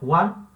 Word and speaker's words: Juan: Em espanhol isso não acontece, vai ser considerado uma coisa só, Juan.